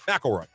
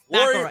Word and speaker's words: McIlroy: McIlroy. McIlroy. Rory McIlroy. That is not how it's spelled, but that's cool.